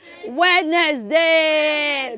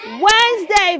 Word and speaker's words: Wednesday: say s and then never say wedness day no you should say let me hear you say it Wednesday beautiful give yourself a